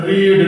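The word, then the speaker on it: read: का क्या होता है रीड, लेकिन यहां तो रेड बोलेंगे हम, क्योंकि V3 का प्रोनाउंसिएशन रेड देना है। Otherwise your sentence will be wrong if you will speak रीड in state of रेड।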